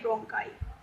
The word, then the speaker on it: bronchi: इसमें स्पेलिंग गलत लिखी हुई है, आप इसे ठीक पढ़िएगा, BRONCHI, ब्रोंकाई।